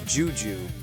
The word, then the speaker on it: Deux Deux: I also think it would be cool if Sergeant Deux Deux, pronounced Juju, from The Inspector cartoon series